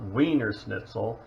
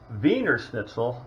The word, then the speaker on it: Wienerschnitzel: it's wiener schnitzel uh the austrians pronounce their w's with a v it's not wiener schnitzel and weiner schnitzel is not a hot dog so let's be clear on that so vener schnitzel is basically the name